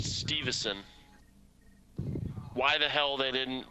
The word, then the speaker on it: Stuyvesant: I found out that Stuyvesant, or whatever, is pronounced Stevenson.